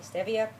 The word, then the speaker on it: stevia: stevia to sweeten it some people call it stevia it's actually stevia that's how it's pronounced and when i took